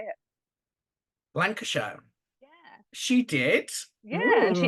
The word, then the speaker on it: Lancashire: she she laner how do you say it Lancashire yeah she did yeah she immigrated to Canada